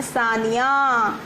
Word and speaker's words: Sania: देखो, इनका नाम है सानिया और इनका नाम है साइना। स्पेलिंग में लेटर्स सेम हैं, बट उनकी पोजीशन बदल गई है। SANIA, निया, ठीक है, सानिया, और SAINA, साइना।